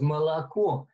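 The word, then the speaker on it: молоко: But the way she said it was molako, and she had three different pronunciations for the O, the O, and the O.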